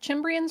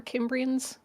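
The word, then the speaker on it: Cimbri: Romans neglecting them the is it chiman or kimens I'm gon to go kiman is probably closer to the Latin pronunciation but also there's no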